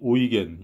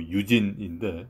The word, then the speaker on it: Eugen: 작가의 이름이 오이겐, 영어 스페링으로는 이제 EUGEN, 뭐 유진인데 이 독일어 발음으로는 이제 오이겐이라고 하는 것 같습니다.